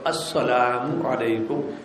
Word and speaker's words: السلام علیکم: کمی آ جائے گی۔ انہیں کو حمزہ نہیں ادا کرتے، حمزہ کو صاف ظاہر کرو، السلام علیکم، یہ پورا ہے، ورحمۃ